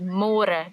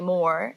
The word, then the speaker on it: môre: It's a little bit easier, but you have to remember to read môre, because in English it's spelled like more. So don't say more, say môre. And the older generations of Afrikaans people, they might say it a little bit differently, and they sometimes say môre, but it's more commonly used as môre.